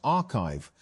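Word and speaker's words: arXiv: Although papers are posted to the site before they are peer-reviewed, ORIV pronounced archive has become one of the main ways that research circulates in fields like computer science and math.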